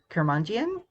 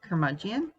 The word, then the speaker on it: curmudgeon: off so meadow he's kermanjian is that how you pronounce it curmudgeon is how you pronounce